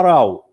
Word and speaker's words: row: ونطقها بهذا المعنى, نطقها راو. لكن لو كانت بالمعنى a line of things or people next to each other بصير row. أو كانت بمعنى B a line of seats in a theater or cinema بصير row. لكن بمعنى جدال راو. النطق يختلف.